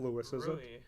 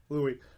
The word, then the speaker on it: Louis: do you say his name is it's not Louis's Louie from B stars I say neutral evil from